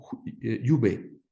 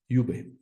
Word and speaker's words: Iube: Entonces, desde la primera palabra, Iube, se pronunciada a la francesa, se dijo Iube a estos lugares.